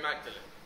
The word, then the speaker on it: Magdalene: But so that people remember who he was, he changed the pronunciation to sound like his last name, Audley.